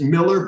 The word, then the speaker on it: Mueller: in Wisconsin so I we pronounce it Miller but of course it's